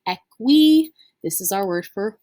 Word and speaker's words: equi: again that long eye this is not pronounced ecy that happens a lot if you do it it's okay it's gonna happen at least once i'm sure of it but try to remember that long i makes an e sound it is pronounced equi this is our word